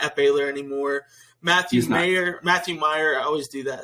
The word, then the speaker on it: Mayer: Matthew Meyer, I always do that. It's spelled Mayer, but it's Meyer. Yeah, I have to think like John Mayer. No, it's Matthew Meyer.